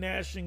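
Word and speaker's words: gnashing: There shall be weeping and nashing of teeth. Some people say, it's the G is silent.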